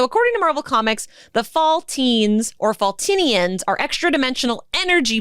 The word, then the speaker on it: Faltine: And her mother was a Faltine, Faltine. I've never heard that word said out loud. That's me assuming it's pronounced like saltine.